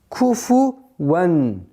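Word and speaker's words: كفوا: Куфу ван.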